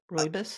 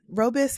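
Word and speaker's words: rooibos: tea and the the how do you say it the roboy robo I can never say it the r o o b i o s t robus listen robis however it's in South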